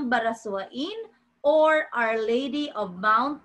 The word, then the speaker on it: Barasoain: Ian baran ah it we pronounce it Baras simbahan ng Barasoain or Our Lady of